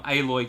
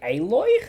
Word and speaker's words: Aloy: in horizon zero dawn it's not alloy i think it's pronounced aloy in the game it's always pronounced avalor it's aloy wow wow you just